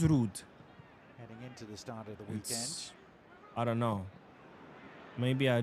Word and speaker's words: Ruud: I mentioned it to you about Dutch way of pronouncing Ruud. So I looked it up, and apparently it is Ruud.